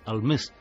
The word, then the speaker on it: Almes: Y en un momento determinado es cuando ella pronuncia Almes. Es la pronunciación altaica del hombre de las nieves.